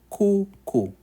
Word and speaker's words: kuku: The last vowel is U, makes the sound U. So we say U in Swahili, as in pool. It has that U sound, like a swimming pool. Example is kuku.